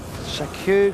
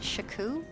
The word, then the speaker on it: Shaku: It rhymes with achew.